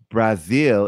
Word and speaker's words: Brazil: Oh, but Brazil is Brazil, not Brazil.